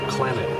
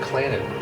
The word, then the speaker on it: Clannad: If you get Clannad, It's like clan and then like mad.